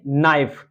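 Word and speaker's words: knife: तो यहां पर जो होगा के जो होता साइलेंट होगा और यहां पर हम देखेंगे नाइफ के एन आई के एन आई एफ ई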